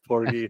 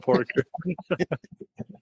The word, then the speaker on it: Porky: Ed Porky, or not Pork? Did I say Porker or Porky? You said Porker to begin with. It's Porky, not Porker.